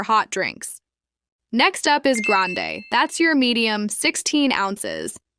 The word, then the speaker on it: grande: Quick pronunciation guide, it's grande, not grand, and venti, not venti.